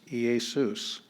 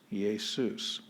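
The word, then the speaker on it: Ἰησοῦς: has to come first it is smooth and so uh there's no h sound or anything and this this is the name of jesus ea soos ye soos and then we already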